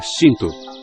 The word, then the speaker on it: Shinto: Na língua japonesa, outra forma de pronunciar caminhos dos kami é Shinto.